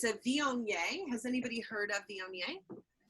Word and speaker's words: Viognier: So Viognier, Viognier, which I called Viogner until somebody's trained me better.